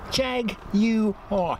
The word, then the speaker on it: Jaguar: budget pretty crappy stuff it's three syllables not to jag you are Jaguar hopeful dumbest name I've